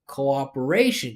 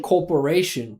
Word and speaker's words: cooperation: Corporation. Corporation. It sounds like she's saying corporation. You know, like a business entity instead of cooperation, right?